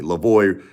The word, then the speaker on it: Lavoie: Think of Chips Ahoy. Lavoie rhymes with Chips Ahoy, right?